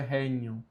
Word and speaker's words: regnum: Mais uma vez o G com N tem som de NH, por isso é regnum.